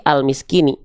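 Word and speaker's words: المسكين: Dibacanya gimana? Il miskina, il miskini, ul miskini atau al miskini. Pasti al miskini. Dibacanya fathah. Pasti al miskini gitu.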